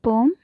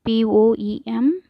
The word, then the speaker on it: poem: Do you all like poem? What is the pronunciation of poem? It's not poem, it's poem.